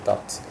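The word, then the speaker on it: doubt: dot는 요 B가 묵음입니다. dot라고 읽어요. dot.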